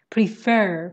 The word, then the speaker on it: prefer: question next session okay prefer put the stress on the second syllable i prefer okay i